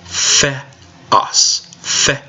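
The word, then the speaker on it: θεός: Theta makes a th sound, theta. Epsilon has a short e sound, epsilon. For the second syllable, we have omicron, which has a short o sound, omicron. And then we have the final form of sigma, sigma. Let's go through and pronounce each syllable. The. Second syllable. Os. Put it together. Theos.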